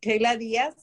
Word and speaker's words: Keyla Diaz: Did I pronounce that right? Keyla Diaz? Okay. Yes, Keyla Diaz.